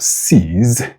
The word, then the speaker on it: seize: So you have sees with a voice fricative z and sees with a voiceless fricative s.